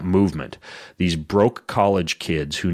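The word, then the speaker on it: MVMT: called M V MT you pronounce that movement these broke college kids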